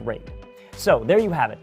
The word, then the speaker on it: RAID: all those letters and yes I know it's pronounced rate so there you have it the predator triton